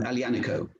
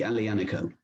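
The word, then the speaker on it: Aglianico: the red grape um alianico that's a g l i n i c o but you don't pronoun basically you don't pronounce the g alianiko and i can skip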